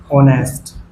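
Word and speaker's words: honest: जो कसोनेंट से शुरू होते हैं। से शुरू होते हैं। किंतु उनके उच्चारण में किंतु उनके किंतु उनके उच्चारण में वोवेल्स यानी कि शवर की ध्वनि होती है। अतः इनके साथ एन का प्रयोग करते हैं। जैसे मैंने लिखा एन ऑनेस्ट एच ओ एन एस टी एन ऑनेस्ट ऑनेस्ट वो ईमानदार लड़का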